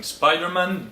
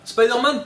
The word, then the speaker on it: Spider-Man: vous induit en erreur, ça se prononce pas Spider-Man. D'accord? On a deux mots anglais, on prononce les deux à l'anglaise, Spider-Man, soit tout en français, Spider-Man. Mais on fait pas la moitié-moitié, c'est ridicule.